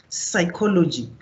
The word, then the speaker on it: psychology: But the more you see the word pneumonia, psychology, you will never thought that there is a P on psychology, but there is.